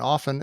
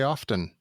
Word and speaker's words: often: professor told me that the T in often is silent, and I was very glad to hear that. It always bothers me when people say often, and I always want to correct them.